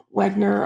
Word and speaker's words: Wegener: by the name of alfred wegener and wagner or wagner you might hear um it pronounced in some um places um published a book